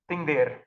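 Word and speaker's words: Þingvellir: Oh, here it is, Thingvellir. So they've pronounced it here with a th, but you'll see it written with a kind of a P and a line through it.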